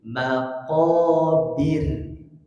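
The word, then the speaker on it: مقابر: kedua di ayat kedua karena waakaf sukunnya itu harus dibaca tipis karena sebelumnya kasrah jadi maqobir tidak bir tapi bir nah cara membacanya hadirin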